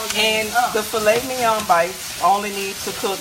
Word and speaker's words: filet mignon: You gotta say it like filet mignon.